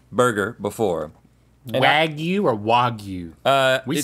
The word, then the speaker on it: wagyu: Now, Wagyu.